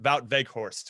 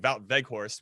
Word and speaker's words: Wout Weghorst: Stars Wout Weghorst. And it's spelled with a W, right? You pronounce the W's as V's, but whatever.